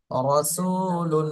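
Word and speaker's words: رَسُولٌ: চাপ দেওয়া যাবে না উপরের দিকে টান টান থাকবে রাসুলুন রাসুলুন রাসুলুন রসুলুন রসুলুন এইভাবে আরেকটা হলো র নিচে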